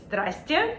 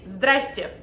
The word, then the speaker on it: здрасте: Instead, you can say jokingly здрасте. So basically just skipping a bunch of those unnecessary consonants that word has anyways. You can just say здрасте.